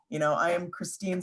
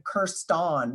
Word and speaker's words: Christine: I am Christine. Sometimes I am Kirston with an O, like it's funny.